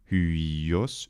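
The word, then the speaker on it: υἱός: And then, if it's followed by another vowel, which it normally is this diphthong, you have hyos, hyos.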